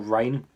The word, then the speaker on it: Reign: for me uh because it's a silent june of course it's not spelled like reinhardt as in ryan from overwatch so he's got a silent g so this one is